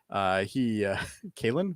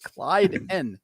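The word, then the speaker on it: Klyden: And the guy's name who I can't pronounce. Kalen? Clyden. God damn it. Clyden.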